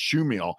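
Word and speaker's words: Chmiel: Fred schill spelled chm iel but it's PR pronounced schill his first season he was had been an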